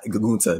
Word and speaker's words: Gunther: Like I know all eyes are like on, Walter / Gunther and, how you pronounce his name, but like they, I know all Gunta.